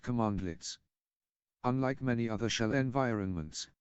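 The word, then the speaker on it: cmdlet: commands in Powershell are called conducts pronounced commandlets unlike many other shell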